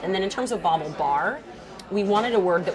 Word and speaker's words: BaubleBar: with the name come from so it's called bauble bar and yeah the AU the le ba are calm and it's pronounced bobble bobble Bobble bar so a bobble is a piece of fashion